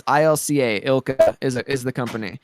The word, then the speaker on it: ILCA: development Studio it's it's I don't know if it's ILCA or ilka um they they pronounced it ilka before but it's it's spelled LCA but but either way